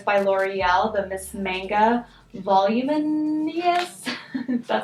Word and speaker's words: Miss Manga: It's by L'Oreal, the Miss Manga Voluminous, that's how you say it.